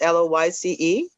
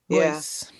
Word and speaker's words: Lois: Lois is actually pronounced Loyce. Oh, okay. Loyce.